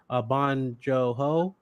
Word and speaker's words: Bong Joon-ho: I'm going to make sure I pronounce his name right. Bong Joon-ho.